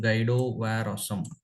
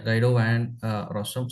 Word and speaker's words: Guido van Rossum: The founder of Python, his name is something Guido Ware Awesome. Okay, if I pronounce it correctly, yeah, Guido Van Rossum.